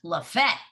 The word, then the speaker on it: Lafayette: that going on and then we have one that's spelled lafayette like in louisiana but in georgia they call it la fete okay so i have i work hard to